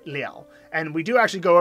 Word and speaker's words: 了: is what happens there so when Lu is pronounced in its second pronunciation Nell it means to complete or finish off so if I say